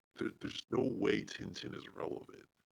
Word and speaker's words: Tintin: be in English it's Tintin. I think it's pronounced Tonton in French.